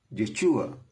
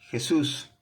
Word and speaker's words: Yeshua: el nombre como corresponde, porque su nombre es Yeshua, no Jesús. Jesús es la traducción de su nombre, pero no es la pronunciación correcta de su nombre.